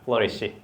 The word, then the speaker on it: flourish: 발음이 flourish라는 발음은 flower하고 비슷해요.